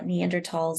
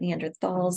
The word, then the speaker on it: Neanderthal: Uh, Neanderls is how Europeans say it. Neanderthalss is how Americans say it.